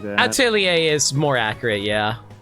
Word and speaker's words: Atelier: So I've always heard like atellier or something like that. Atelier is more accurate.